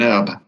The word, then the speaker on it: herb: An herb. But I found it fascinating. I never knew. I always wondered why. Why herb, not herb. Yeah, it's from the French.